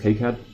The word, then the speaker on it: KiCad: of drop really schematic I use high card or kicad parents actually pronounced kicad they should put a in there for what it to be kicad it consists of a